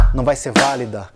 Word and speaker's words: válida: E se fosse proparoxítona? Válida e prática. Mesma coisa, bate junto com a tônica no quarto tempo, na virada do compasso.